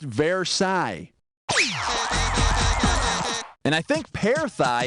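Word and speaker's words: Versailles: ended like World War I or something it's pronounced verai and I think para thigh is what you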